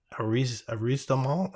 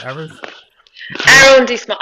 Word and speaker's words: arrondissement: and even keeping the skyscrapers in their own arrondissement. What? How do you say that? Arrondissement.